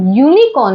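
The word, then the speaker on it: unicorn: यूज नहीं करेंगे क्योंकि जब हम यूनिकॉर्न बोल रहे हैं तो हमारा जो साउंड आ रहा है वो है य का साउंड इसमें तो ए का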